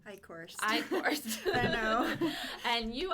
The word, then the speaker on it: Eichorst: Eichorst.